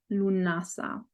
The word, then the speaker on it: Lughnasadh: share a little bit about the festival of lunasa that's how it's pronounced i've been told lu nasa what it's